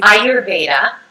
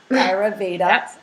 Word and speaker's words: Ayurveda: and i've been pronouncing i've been saying ayurvedic i know you say auravedic it's the ayurveda ayurveda i know it's the canadian me i say different things and people are like oh i can sense the canadian say it one more time ayurveda ayurveda means life